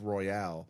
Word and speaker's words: Royal: Um Yeah, I royale. But it's Royal, not Royale. That's the key. It's spelled like it should be Royale.